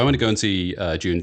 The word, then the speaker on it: Dune: It's pronounced June, not Dune.